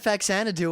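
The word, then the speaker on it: Faxanadu: who said anything else the correct pronunciation and this is actually something I learned here is you know zanadu like you know the mansion and Citizen Kane and DDR song only with a fa in front of it fanu fanu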